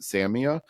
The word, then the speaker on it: Samia: the DJ and uh she pronounced it Samia and I'm pretty sure she probably asked how it's pronounced so I'm going to guess that that's right but I did learn an interesting trick.